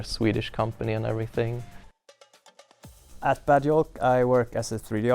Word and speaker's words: Bad Yolk: from a bad pun the Swedes usually pronounce J with a Y sound the name bad joke came up and my reaction